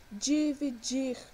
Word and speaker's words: dividir: Dividir, nós temos uma trissílaba e uma oxítona. Por que oxítona? Porque a sua sílaba tônica é a última, é o dir, ok?